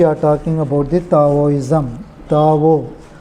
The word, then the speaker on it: Tao: Tao, T-A-O, Tao or D-A-O, Tao or Taoism. D, wherever in Chinese they pronounce D as is their word, that to